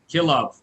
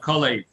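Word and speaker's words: כלאב: Kilav, not Kolev. Okay, it's a Kilav. different spell. Spelled differently, and it's pronounced differently.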